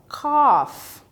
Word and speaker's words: coffee: também ó o tosse a gente fala coffee tá tem um o mais prolongado eu do café coffee